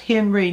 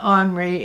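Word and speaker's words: Henri: guy's name is really Robert Henry it is pronounced Henry not Henry as the French pronounce it and it really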